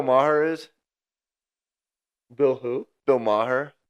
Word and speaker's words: Maher: Bill Maher. Maher. Yeah, I believe that's how you say it. It's spelled M A H E R I believe.